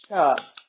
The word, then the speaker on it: Chih: And we're here to do Tai Chi Cha Cha. That little word is pronounced cha like chuck wagons.